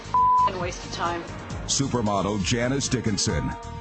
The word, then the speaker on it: Dickinson: of time supermodel janice dickinson what am i it rhymes with rich you are heart you